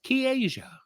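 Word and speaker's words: Ki'ayja: the you pronounce that you PR oun Ki Apostrophe a y j a as K Asia Kia K Asia what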